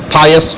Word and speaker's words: pious: bless Muslim with pious, اس کو pious کہتے ہیں. میں اس کو پیوس پڑھتا تھا. It's wrong pronunciation. پا بولتے ہیں نا, pious homeland.